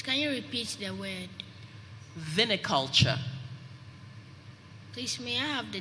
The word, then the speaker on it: viniculture: you speller 41 hello your word is viniculture please can you repeat the word viniculture please may i have the definition of the